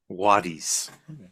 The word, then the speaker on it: Quo Vadis: Quo Vadis? It would be Quo Vadis. Wadis. Vadis is not how they would have said it, but it's Mm, fine. We're not. Wadis. We'll go with medieval Latin pronunciation.